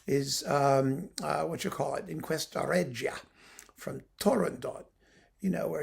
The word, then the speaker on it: Turandot: Is it Turandot, Turandot, with a T at the end? The best way to do it is to pretend that there's a T at the end so that people can't tell whether